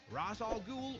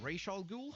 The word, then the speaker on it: Ra's al Ghul: supervillains, including the Joker, the Penguin, Poison Ivy, Ra's al Ghul, or Ra's al Ghul, however you want to pronounce it, Bane, and more, which is pretty dang exciting.